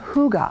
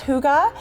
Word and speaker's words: hygge: long cold winter this is the concept of hygge hyg GE but you pronounce it who got a CH oo GH